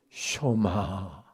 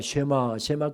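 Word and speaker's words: שמע: 쇼마 이스라엘, 이스라엘아 들으라. 이러면서 오늘 설교가 시작됩니다. 흔히 우리가 쉐마 그렇습니다만 정확한 히브리어 발음은 쇼마입니다.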